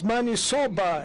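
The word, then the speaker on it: maniçoba: The interpreter could interpret it correctly because it's manisoba, as you pronounce it.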